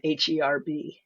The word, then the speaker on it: herb: off of the word HERB. So where Americans say herb and the British say herb, it's actually older not to say the H.